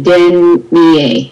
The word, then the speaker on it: dernier: Le dernier. I don't hear the R. Oh. Dernier. Yes, perfect.